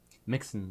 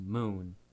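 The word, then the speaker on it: Mxxn: found out recently that Mixon is actually pronounced Moon. Yes. It's spelled like M-X-X-N. That's why we always pronounce it as Mixon rather than Moon, but yeah, that was just wanted to throw that in there, post-editing.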